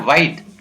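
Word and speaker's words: white: इसी प्रकार वाइट, वाइट में भी H साइलेंट रहता है।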